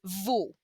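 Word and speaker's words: vos: for the plural it's vo vo the s is silent unless it's the plural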